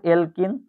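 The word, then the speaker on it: alkene: এলকিনের উচ্চারণটা হয় ইনের মতো, ইনের মতো। অ্যালকাইনের উচ্চারণ হয় আইনের মতো, YN, আইনের মতো।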